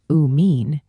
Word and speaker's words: amine: An amine, pronounced uh mean, has nitrogen bonded to carbon and hydrogen groups without a carbonyl directly attached.